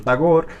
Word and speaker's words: Tagore: que se llama tagor aquí en Colombia dicen tagore pero bueno la r no hay que pronunciarla tagor bueno tagor tagore tagor